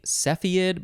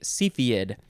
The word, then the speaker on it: cepheid: next we have cepheid i guess you could also say cepheid but i'm going to say cepheid capital c e p